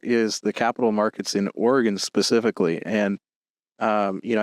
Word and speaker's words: Oregon: For those who don't know, it is in fact pronounced Oregon. Yeah. Uh, but the cron pronounce it like you're in a rush is what I like to say.